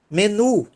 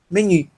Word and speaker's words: menu: E ela deveria ser pronunciada como menu. Menu. Só que a gente pronuncia menu. É um estrangeirismo também.